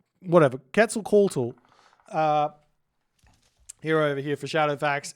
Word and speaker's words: Quetzalcoatl: Quetzalcoatl. Whatever. Quetzalcoatl.